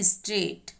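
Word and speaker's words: straight: आप ध्यान से देखिए, विच letter is silent in स्ट्रेट, जब हम स्ट्रेट को पढ़ते हैं तो आपको इसमें से किस अल्फाबेट की साउंड नहीं आती, और आपका आंसर होगा जी एच।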